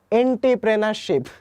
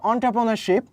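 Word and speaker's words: entrepreneurship: করে থাকি বা আমি ছোটকালে উচ্চারণ করতাম যে এন্টারপ্রেনারশিপ ওকে এটার উচ্চারণ কিন্তু অন্ট্রপ্রেনারশিপ তো ইংরেজি শব্দ অন্ট্রপ্রেনারশিপের বাংলা পরিভাষা হচ্ছে উদ্যোগ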